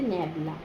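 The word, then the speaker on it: nabla: হয় ম্যাবলা ঠিক আছে যে এটাকে এটা এটার উচ্চারণ হচ্ছে ন্যাবলা।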